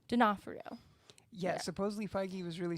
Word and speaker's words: Vincent D'Onofrio: i i agree i hope they get the vincent de frinero i can't pronounce it vincent d'onofrio d'onofrio yeah supposedly feige was really sold on him